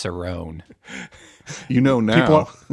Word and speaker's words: Cerrone: it happen that's why I pronounced it wrong I know it's Cerone you know now it's